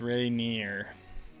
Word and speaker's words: Rainier: thank you my friend proper way to say it is Rainier yeah we went we went over the pronunciation of Mount Rainier before so I apologize if I said it a little bit off Rainier I don't know